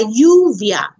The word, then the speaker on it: lluvia: on le Leone AJ the Double L makes an Y sound yeah yeah as in you via la lluvia or your arm AJ